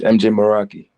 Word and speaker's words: Mjay Meraki: probably mess it up in the reaction it's MJ moroi MJ moroi bet bet bet bet bet okay